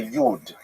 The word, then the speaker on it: yid: Yidd means Jew. So that's a Lithuanian pronunciation. Y I d yid. If you uh lived in western Germany, you would say yud, right, from yud, which like the German word for Jew.